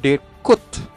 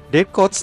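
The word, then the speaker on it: Kuyt: coba membacanya yang benar bukan bukan Deep cuts pronunciation yang benar dari mantan pemain Liverpool ini adalah cheat code ada sedikit es di akhir tapi tidak terlalu kuat decotex d'cotz terkenal untuk head triknya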